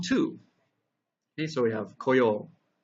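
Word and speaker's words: 来よう: and 来る becomes 来よう. So please notice here that the pronunciation of this character changes from ku to ko. But the way it's written is the exact same, so you'll just have to kind of remember.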